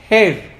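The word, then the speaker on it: גר: Realmente, a la luz de la Torá, viene de una palabra hebrea que se pronuncia Ger, G-E-R, que está mejor traducida por la palabra prosélito.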